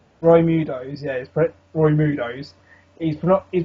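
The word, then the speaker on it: Roidmude: forgot one touch though because he's protecting the rids now he's not able to fulfill his role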